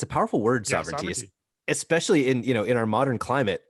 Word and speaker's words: SOVRNTY: And sovereignty, so it's spelled differently. It's SOVRNTY, is a domain.